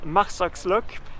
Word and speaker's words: Marsaxlokk: Et me voici dans le magnifique petit village de pêcheur Marsoxlock. J'espère que je prononce bien.